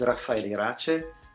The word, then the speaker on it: Raffaele Irace: all good morning from germany my name is rafael rache as you correctly pronounced and i am the program director of